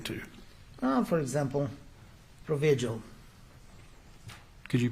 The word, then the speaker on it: Provigil: substance you're referring to uh for examp example provigil could you pronounce that again p r o v i g i l provigil I I don't know if he was